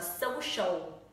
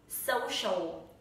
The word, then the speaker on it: social: The first is so and the second is show. Nhớ không đọc là social. Học sinh của mình tuyệt đối không đọc từ này là social mà đọc là social, social, social.